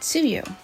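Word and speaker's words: 梅雨: Do you know that Tsuyu is written plum rain? If you study kanji, you'll see it and wonder why anyone would pronounce plum as tsu and not bai, which is the logical pronunciation.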